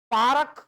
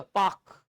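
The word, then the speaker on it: park: आर को पूरा Plummer over ऐसा नहीं होता, पारक ऐसा नहीं होता, पाक, पारक नहीं होता। आर को उच्चारण अपन बचते हैं आर के उच्चारण से, ठीक है, नहीं उच्चारण करना तो मैं ढंग बता रहा हूँ, पाक होता है ना कि पारक, क्लियर है बात इतना।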